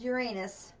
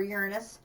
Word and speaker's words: Uranus: for the next planet, which is Uranus, or Uranus, depending on which way you prefer to pronounce it.